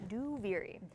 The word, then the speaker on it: Duviri: Duviri out loud is that's how you pronounce it, by the way. Duviri.